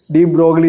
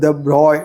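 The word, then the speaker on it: de Broglie: രാജകുമാരനും കൂടി ആയിരുന്നു പേര് നമ്മൾ സ്പെല്ലിം അനുസരിച്ച് നോക്കുകയാണെങ്കിൽ ലൂയിസ് ഡി ബ്രോഗലി എന്നാണ് പറയുക എഴുതുക പക്ഷെ ഫ്രഞ്ച് പേരാണ് ശരിക്കുള്ള ഫ്രഞ്ച് ഉച്ചാരണം നമുക്ക് പറയാൻ വലിയ ബുദ്ധിമുട്ടാണ് ആദ്യത്തെ ഭാഗം എന്തായാലും ലൂയി എന്ന് തന്നെയാണ് മറ്റേത് ദ ബ്രോയ് ദി ബ്രോയ് എന്നൊക്കെ പലതരത്തിൽ കേട്ടിട്ടുണ്ട് അത് ഫ്രഞ്ചുകാർക്ക് മാത്രമേ കൃത്യമായിട്ട് പറയാൻ പറ്റുയുള്ളൂ അതുകൊണ്ട് ഞാൻ തൽക്കാലം ലൂയി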